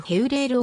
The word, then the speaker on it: Hewlêr: アルビールではあるビールのクルド語発音であるヘウレールを用いてナビ